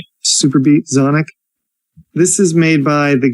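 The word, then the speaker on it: Xonic: Super Beat Zonic. I guess it's pronounced Zonic. It's with an X. X O N I C.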